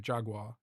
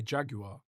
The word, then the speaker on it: Jaguar: But and I'm pronouncing Jaguar like Americans do, Jaguar. In Britain, we say Jaguar.